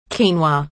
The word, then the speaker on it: quinoa: Quinoa. Quinoa, pronounced quinoa, is a nutritional all-star that belongs in your weight loss plan.